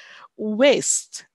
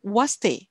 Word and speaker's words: waste: ya pronunciation waste waste Eh ini ini masih banyak sekali yang membuat kesalahan dengan membacanya dengan waste ya Eh eh eh Perhaps It's because you are a little bit nervous ya tapi eh ke depan eh harus diingat eh I don't want to hear any was Ya but waste waste ya waste source ini Yang